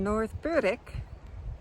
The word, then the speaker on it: North Berwick: So this is such a spectacular morning view here in North Berwick, where the W is silent.